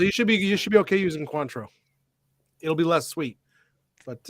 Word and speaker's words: Cointreau: Actually, this one here I do pronounce like an American. I call it Cointreau. It's technically Cointreau.